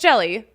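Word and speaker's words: Hjelle: reliever his name is it's spelled h-j-e-l-l-e it's pronounced jelly that's incredible I wish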